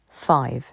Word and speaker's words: five: français four five five le i se prononce i parce qu'il y a une consonne suivie d'un E on ne dit pas F mais five six six le i